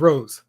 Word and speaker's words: Rose: bad ratio at all my name rhymes with rose Rose thank you